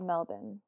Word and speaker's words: Melbourne: you'll appreciate this Aaron it was from Melbourne Australia Mel wait what they say it's called melbin what they pronounce their cities